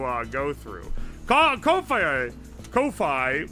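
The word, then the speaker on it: Ko-fi: Kofi, which is apparently just pronounced coffee, is uh a good one though.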